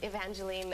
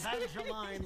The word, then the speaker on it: Evangeline: I have to say I noticed that um Evangeline on the prompter has spelled e n to get you to say it right that's very sweet sweet once years ago I said Angeline L I never heard the end of it